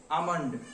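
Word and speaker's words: almond: नहीं जाना चाहिए था इसका करेक्ट प्रनंसीएशन होता है आमंड इसमें एल साइलेंट होता है जिसमें ऑप्शन करेक्ट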